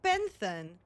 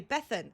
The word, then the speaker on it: Bethan: Isn't that Isn't that just um Hello, first time chat from Benthon. Sorry, Bethan. Sorry, I I mispronounced your name immediately.